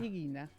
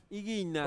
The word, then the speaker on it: Ighina: ¿Y cómo se pronuncia? Higuina. Higuina.